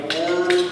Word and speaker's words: DeForest: Good evening, President Jordan, Brother Bill Brenda, Father DeForest, who I said was, I'm supposed to pronounce like Martin DeForest, Hall of Fame inductees, family and friends, and fellow alumni.